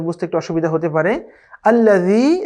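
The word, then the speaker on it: الذي: আল্লাযী, এখানে দালটা খুবই সফট হবে। আল্লাজি অথবা আল্লাজি এরকম বলার কোনো সুযোগ নেই। জালের উচ্চারণ আমরা শিখেছিলাম খুবই সফট, নরম করে উচ্চারণ করতে হয়। সেখানে আল্লাযী, আল্লাযী।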